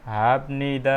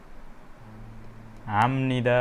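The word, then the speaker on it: 합니다: यसको हामीले नर्मली उच्चारण गर्दा हाप्निदा भनेर गर्थ्यौँ हैन, तर यो उच्चारण नभएर के हुन्छ? हाम्निदा हुन्छ।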